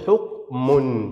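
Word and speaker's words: حكمٌ: يعني نون، أنطق نون، أقول حكم، حكم، يا إلهي حكم، انظروا، حكم، أين النون؟ غير مكتوبة، أقصى ما في الأمر أنني وضعت ضمتين فقلت حكم.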